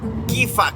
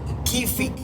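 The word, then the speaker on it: كيفك: if it is for a man, it is "Kifak" and if it is for a woman, it is "Kifik".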